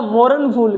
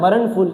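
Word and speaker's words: mournful: आएगा इसको पढ़ने में तो आएगा मोरन फूल क्या आ रहा है मोरन फूल इसलिए इसमें आर साइलेंट होता है इसका होता है मरण फूल क्या होता है?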